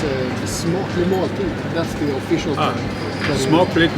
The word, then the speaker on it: smaklig måltid: Skål is beer, but Yeah, it's a smaklig måltid.